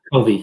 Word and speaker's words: Covey: AMC could have, and is it Covey to pronounce it? Covey, yeah.